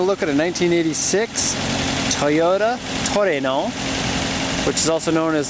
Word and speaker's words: Trueno: we're taking a look at a 1986 Toyota Torino which is also known as the Cora GTS or Sprinter truno however you want to pronounce it this being a Japanese vehicle it's pronounced Toreno like tooro uh this one has 1 31,32